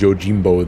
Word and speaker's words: Yojimbo: Okay, and they pronounce it as Yojimbo there.